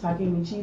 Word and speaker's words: Takemichi: uh takamichi takamichi right so i want takamichi takemichi to get some pointers from itadori because itadori